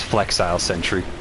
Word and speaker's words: Flexile Sentry: nowhere oh hello ow okay ow I always pronounce this as Felix sentury but it's flexile Sentry I just get stuck there for a second